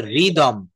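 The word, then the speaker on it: rhythm: উচ্চারণ করে থাকে যেমন আরটা টোটাল কিন্তুটা বলে রিদম রিদম আর থাকলে আর এর উচ্চারণ করে থাকে।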